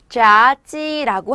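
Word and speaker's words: 炸鸡: 자찌라고 합니다. 튀기다는 자, 닭은 찌라고 합니다. 튀기다는 자, 닭은 찌, 튀기다는 자, 닭은 찌. 연결해서요. 발음이 조금 힘들어요. 연결해서 자찌 하시면 뭐? 치킨이 되겠죠.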